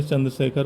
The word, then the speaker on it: चंद्रशेखर: South में जाते हैं, जैसे रामा हो जाता है, कृष्णा हो जाता है, तो उसी तरह से चंद्रशेखर को इंग्लिश में जब लिखते हैं तो ए लगा देते हैं, और जब उच्चारण करते हैं साउथ में तो भी उसमें चंद्रशेखरा हो जाता है। तो ये है चंद्रशेखर मंदिर हमारे हिसाब से, मतलब हिंदी के हिसाब से।